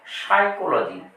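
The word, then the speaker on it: psychology: কিন্তু এই পিটির উচ্চারণ হবে না বলতে হবে সাইকোলজি তাহলে পি হচ্ছে সাইলেন্ট আবার এটির উচ্চারণ পি দিয়ে লেখা হলেও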